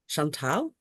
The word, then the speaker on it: Chantal: okay um so um Chantel um is how you say my name um I'm technically not